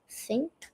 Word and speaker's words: think: Uh, you must get your tongue and put your tongue uh down like like this. Think. No, can't do that. Think. Think. There you copy me. It's not fu, it's thu.